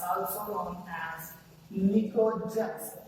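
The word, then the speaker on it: pnictogens: In group 15 elements, it is known as nitrogen family, or it's also known as nicogens. P is silent here.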